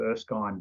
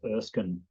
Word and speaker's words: Erskine: pulled up by locals because i call it earth kind but apparently it's erskine oh really that name right